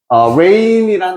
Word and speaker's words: reign: 그래서 of his reign이란 단어 자체가 통치 기간이라는 뜻이야. G는 발음이 안 되고요.